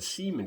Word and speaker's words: Siemon: It was called the Seaman Company. It's spelled Siemon.